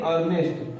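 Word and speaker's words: earnest: इ को हटा देंगे यहां भी है अर्नेस्ट अर्नेस्ट मीस होता है हमारा बयाना यानी कि इसमें ई हटा के डायरेक्ट क्या पढ़ेंगे अर्नेस्ट अर्नेस्ट मीस बयाना तो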